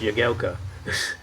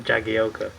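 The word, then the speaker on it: Jagielka: said an interview like it's pronounced yagelka not jagioka even the bloody combat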